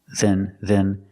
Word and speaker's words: than: that better than that than is not a stressed word so it's pronounced with a closed sound then then better than better than